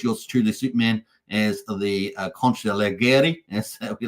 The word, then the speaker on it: consigliere: We've got Max Payne, the Capodicina, and, of course, yours truly, Superman, as the Consigliere, as we like to say. Consigliere. Hopefully, Cult v DeFi likes my pronunciations, because normally I say Consigliere.